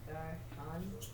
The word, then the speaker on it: garçon: All right, so we have the cedilla, which gives it a soft C.